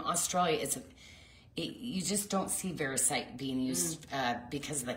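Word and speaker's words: variscite: Verisite. Verisite. Mm-hmm. Yeah, okay. You are not. Verisite's super expensive, and this type of material, like, yeah, it's beautiful, and it's from Australia. You just don't see verisite being used because of the costing.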